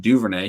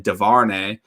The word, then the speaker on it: Duvernay: And then the announcer couldn't pronounce Devin Duvernay. He kept saying Devarnay.